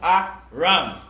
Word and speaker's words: Aram: biblical name for syria aram pronunciation is pronounced ah ram and in the hebrew